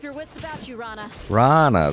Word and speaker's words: Rana: Rana, that's how you pronounce her name.